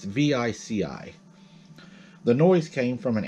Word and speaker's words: Vici: home south of, and I believe it's pronounced Vicky, when a growl made him stop. It's Vici.